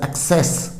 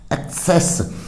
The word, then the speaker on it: access: तो ACCESS, एक्सेस, एक्सेस यानी पहला कै और दूसरा सी सह, एक्सेस, पहुंच।